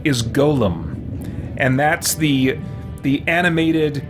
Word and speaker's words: golem: just took off and people just started pronouncing this word Gollum and it's and it's not it's Golem um so just a